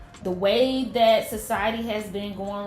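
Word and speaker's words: Ouai: looked up the pronunciation and it says it's pronounced way so o I was so wrong I don't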